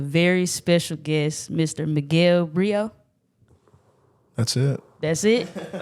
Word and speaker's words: Brito: here with a very special guest Mr Miguel Brio that's it that's it all right I'm making sure making sure I pronounced it right making sure I pronounced it